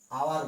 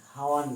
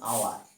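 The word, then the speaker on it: hour: দেখো এখানে আওয়ার বলছি, হাওয়ার না, কি বলছি আওয়ার, এইচের উচ্চারণ নাই, অনেস্ট থেকে শুরু করছি,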